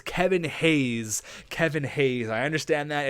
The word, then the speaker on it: Hayes: The first thing is it's Kevin Hayes. Kevin Hayes. I understand that it's not Kevin Haynes. I've been pronouncing it Haynes. I don't know why. I just threw a random N in there.